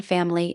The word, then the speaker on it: Familie: The IE in Familie is a long E sound.